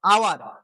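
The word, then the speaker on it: hour: এইচ এর silent কিন্তু silent থাকে, সরি, এইচ এর সাউন্ড সাইলেন্ট থাকলো। তাহলে দেখো আওয়ার, এখানে হাওয়ার আমরা বলি না, হয়ের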